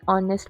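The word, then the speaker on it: honest: Fourth वन is dash ऑनेस्ट person. An ऑनेस्ट person. Why? Because यहां पे H silent है।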